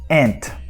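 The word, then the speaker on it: aunt: Ant. But this is in the American English. Então, essas duas palavras, formiga, ant, A-N-T, e tia, A-U-N-T, they are pronounced the same way in American English.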